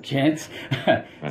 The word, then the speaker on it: Jantsch: Jantsch.